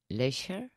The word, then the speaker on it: leisure: today is how do you say or feel leisure leisure leisure leisure leisure yes I'm exaggerating as